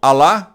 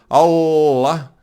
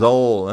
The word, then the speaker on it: Allah: Então, Alá é uma coisa, Allah já é outra. Allah, né? Esse Allah, o L fica, esse 2L fica mais tempo, né? Pronunciado e é mais Allah, né? Allah, certo? Então, aí a pronúncia muda, porque seria Alá, seria um L só. Allah, 2 L's.